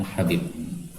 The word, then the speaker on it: Habib: Nah, di sini secara umum kayaknya kelihatannya cara bacanya habib. Karena sejak awal kita lihat semuanya harakatnya Habib ya kan? Abdurrahman bin Habib nih. Nah, maka silakan terjemahnya diganti ya. Yang benar adalah habib ya.